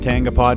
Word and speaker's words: Tangipa: going to get into this name is David tangapa did I pronounce that right man yeah perfect okay awesome tongipa so tell us a little bit about what